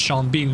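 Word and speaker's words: Sean Bean: it's so funny that his name is pronounced sha Bean when it could have been sha Bon or seen Bean James Bond which James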